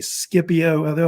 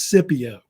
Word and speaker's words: Scipio: It's a debate about how they say his name. I think most people say Scipio. I've heard the other way they say it is Scipio.